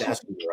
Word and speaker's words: Dachinger: Debbie, and I don't want to say her name again wrong, so I think it's Dachinger. Yes, Dachinger.